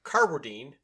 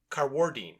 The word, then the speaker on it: Carwardine: name incorrectly okay and I was saying Mark carwardine but he puts the accent on the second syllable so he's carwardine mhm mhm interesting he's